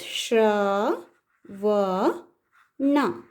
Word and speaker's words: ಶ್ರಾವಣ: It is adding to a swara actually. A vowel becomes sha. And ra is the ottakshara consonant. It becomes shra, va, na. This is not na, na. Rolling the tongue and pronouncing it.